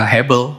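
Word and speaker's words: הבל: Ini hey, ini bet, ini lamet. Jadi HBL. HBL itu ya Hebel, ya Hebel.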